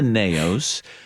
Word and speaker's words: naos: I think, am I pronouncing this term correctly? The naos. Naos.